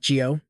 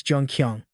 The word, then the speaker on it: Jun-Kyeong: Not Jio, it's Jungqong.